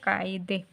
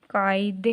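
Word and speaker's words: قاعدے: ठीक है, काफ ज़बर है, उसके साथ अलिफ है, आइन है, दाल और बड़ी ये। ठीक है, अब इनको मिलाते हैं बच्चों हम, तो काफ ज़बर अलिफ का, आइन दाल बड़ी ये दे, कायदे।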